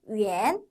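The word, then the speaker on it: 远: 뜻이에요 이번에 보시는 단어는 위엔 위엔이라고 읽습니다 원거리이라고 우리말의 표현도 있는데요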